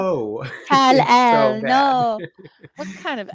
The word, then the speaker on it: Kal-El: I never want to hear anyone call him Kal-El ever again. Oh yeah, Kal-El. Oh my god. No. Oh, how can you poorly act 2 syllables? 2 syllables is all you had to say, gal. No. Kal-El.